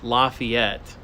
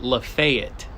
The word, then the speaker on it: Lafayette: how how Southerners pronounce Lafayette and honestly I think it's just Southerners here in Northern Georgia but they call it Lafayette not Lafayette Lafayette that one always